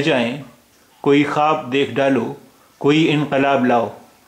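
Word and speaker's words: خواب: खब भी बोलते हैं यानी ख के बाद जब वाव आता है तो बहुत सारे रूफ में बहुत सारे वर्ड्स में वो वाव साइलेंट होता है इसे हम खवाब भी बोलते हैं और खब भी बोलते हैं दाल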